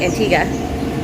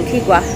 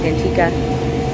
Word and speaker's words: Antigua: locals pron pronounce it Antiga uh we pronounce it Antigua and the locals said no it's antika uh so we went